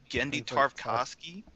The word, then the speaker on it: Genndy Tartakovsky: many years to think candy how do you pronounce his name genndy tartakovsky if I could give yeah I think I